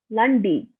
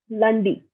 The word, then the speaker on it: lundi: So Monday is Lundi, Tuesday is Mardi, Mardi, Wednesday is Makhidi, Makhidi, Thursday is Judy, Friday is Wanjadi, Saturday is Samedi, Sunday is Dimash. Again, Monday is Lundi, Tuesday is Mardi, Wednesday is Makhidi, Thursday is